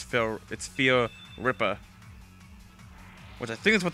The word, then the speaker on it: Fear Ripper: I always used to pronounce it as Fear Reaper, and then I realized, oh, it's Fear Ripper.